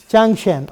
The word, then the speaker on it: Zhang Qian: Shangqian, how do you pronounce it? Changqian, okay.